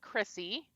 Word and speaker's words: Krisi: to go to my website and it's coach Chrissy which is spelled Coach Co H oh c o a